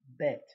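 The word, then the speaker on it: בּ: a v because if it has a dot it would be bet then there is the same letter without this little dot and that one is called vet okay gimmel represents number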